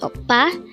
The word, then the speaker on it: 오빠: is O and the second syllable is PA pronounce it with me again a word for today's oppa and this is used to say brother and